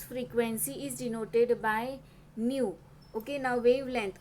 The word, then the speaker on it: nu: it is given by denoted by the letter new Nu U that is a pronunciation but new year you could see in